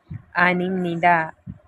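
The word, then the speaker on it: 아닙니다: आपको पता है कि ह के बाद अगर न आए तो हम इसे म प्रोनाउंस करते, प्रोनाउंसिएशन रूल। आनिम निदा यानी कि भी नहीं।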